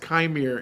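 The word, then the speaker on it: Qimir: actual character's name kir actually it's pronounced kir in kir kir I love it kir but we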